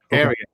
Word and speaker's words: Ariat: How do you spell that, the brand? It's ARIAT. Area.